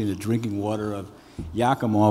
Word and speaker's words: Yakima: the drinking water of yakima which is supposed to sound like omaha they still can't pronounce